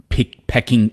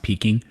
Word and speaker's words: Peking: you know how um pecking Peking duck yeah it's spelled like pecking but it's pronounced peaking that's like an that's